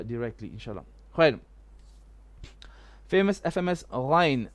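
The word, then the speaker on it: غين: Famous FMS Ghain. How to pronounce Ghain? Is it Gha or Ga? It is not Ga, absolutely. There is no Ga in Hafs and Asim.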